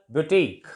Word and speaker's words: boutique: For example, boutique, QUE. UE is usually silent as in the ending of the word, end of the word.